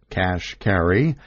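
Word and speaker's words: Kashkari: jobs at treasury Neil cash carry pronounced cash carry started out as a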